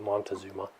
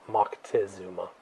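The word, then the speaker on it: Moctezuma: empire empire a guy by the name of Mocktazuma or Mont montazuma as they say here in the states but it's Mckesuma is the appropriate pronunciation.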